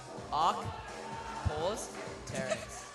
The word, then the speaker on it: Archaeopteryx: Archaeopteryx. Oh, that's awful. How do you say Archaeopteryx, Trent? Arc, pause, Terex.